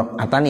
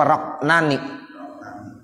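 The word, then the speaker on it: rak'atani: rakaatani, 2 rakaat, 2 rakaatani ya? Bacanya gitu ya? Ya, ada ainnya. Ya, rakaatani. Ada tulisan yang gak pakai ain ya? Ada gak ainnya? Rakaatani apa roknani? Iya berarti kurang ya, kurang ain. Ya, rakaatani.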